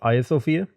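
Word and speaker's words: Hagia Sophia: the hagia sofia and i was told it's pronounced isofia so that's how i pronounce it now this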